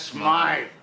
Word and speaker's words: Smythe: Mr. Smith is closing up his shop. That's Smythe.